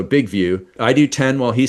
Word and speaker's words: Big Vue: Big View, I guess, but it's spelled VU. So, Big View.